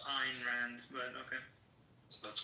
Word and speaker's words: Ayn Rand: It's actually pronounced Ayn Rand, but okay.